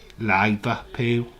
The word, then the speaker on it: Liverpool: liverpool is olivet pill it's not just liverpool it's one word it's one word needy peel liverpool there's no pause it's just liverpool count down countdown eighty